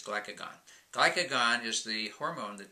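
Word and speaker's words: glucagon: It sends a messenger molecule called glycogen. I'm sorry, glycogen. Yes, glycogen over to tell the liver to send out glucose back into the blood. I just still said it wrong. It's glycagon.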